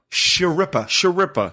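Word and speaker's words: Schirripa: I don't know how to pronounce his last name. Sharippa.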